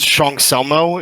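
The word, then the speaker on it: 청설모: It's pronounced Cheongseolmo. It means a squirrel in Korean.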